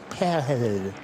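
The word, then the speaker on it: Pijl: His real name means arrow in Dutch, but sounds more like pale. And none of us can certain English speakers have a real difficulty in saying it. It's spelled P I J L.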